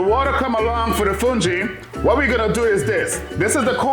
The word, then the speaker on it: fungi: Like I was explaining before, it's just a cornmeal, it's a polenta, and it's pronounced Fungi. If you look at the spelling, it says fungi, but it's called Fungi.